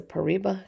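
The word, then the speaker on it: Paraiba: Pile number two has a pariba chalcedony, and the unending sadness of looking back.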